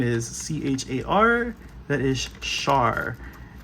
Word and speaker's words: Char: Just just Char. Think of it like Sher without the E at the end. Not the musical artist share, but the word share.